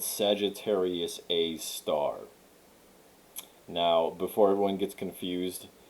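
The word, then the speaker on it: Sagittarius A*: an asterisk sagittarius a and then you pronounce the asterisk as star sagittarius a star because it's a star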